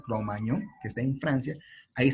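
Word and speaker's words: Cro-Magnon: francia no en la zona de cromañón así se pronuncia el cromagnon que está en francia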